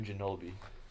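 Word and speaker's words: Ginóbili: Manu Ginobili.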